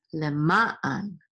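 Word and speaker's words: למען: And the trope or accent is on the second syllable over ma, so this is le ma an.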